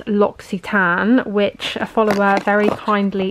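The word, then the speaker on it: L'Occitane: a hand cream so this brand is actually pronounced loxitan which a follower very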